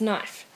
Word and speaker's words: knife: particular you've been having trouble with the silent k at the beginning of the word try it again remembering that you don't need to make the k sound at the beginning of the word knife for everything to die